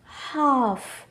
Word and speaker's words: half: half, calf.